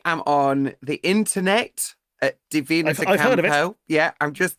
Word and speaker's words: Divina: And it's DI VI rather than DA if that makes sense because people always spell it wrong and then they go, "Oh, I couldn't find you." So it's d like divine rather than David.